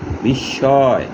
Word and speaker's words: বিস্ময়: মধ্য অন্তে যদি মফলা থাকে তাহলে মফলা উচ্চারণ হবে না, এবং মধ্যে যে ধ্বনির সাথে বা বর্ণের সাথে মফলা থাকবে ওই ধ্বনিটি দুইবার উচ্চারণ হবে। যেমন বিস্ময়, বড় শিকার তালিব্যাস মফলা অন্তুস্তীয় বিস্ময়।